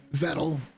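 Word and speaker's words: Vedal: tonight's story is how vettle pronounced like metal or pedal vettle uh he's made that very clear several times uh And again, I'm I don't even really follow them, okay?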